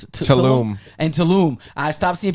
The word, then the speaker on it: Tulum: Tulum? Tulum.